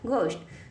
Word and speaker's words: ghost: लिखा हुआ है GHOST बन गया घोष्ट।